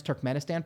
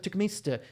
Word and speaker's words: Turkmenistan: a over zealous douchebag she couldn't pronounce Turkmenistan properly cute it didn't even end in standard as I took him ISTA took at least and it's like no that's Turkmenistan I see good professor professor couldn't say Turkmenistan you're over pronouncing I was in the mountains of túcume stew talking to it's like